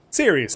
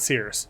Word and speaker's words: Ceres: Ceres, not Sears.